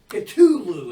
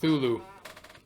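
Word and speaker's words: Cthulhu: HP Lovecraft is though for creating the character Kulu and I'm like I want to pun you no it's actually pronounced thulu we're just you know white didn't say cthulu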